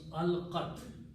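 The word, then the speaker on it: ألقت: at the end, so we don't even pronounce this in this formation. becomes alqat. Alqat, the literal meaning is that she threw something out.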